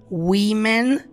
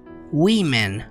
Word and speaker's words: women: má preste muita atenção porque woman com a singular porém se for escrito com e você vai pronunciar Women e é plural então woman Women nós vamos lidar com